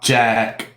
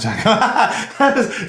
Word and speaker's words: Jacq: Her username is blah, blah, Jack, but it is spelled JACQ.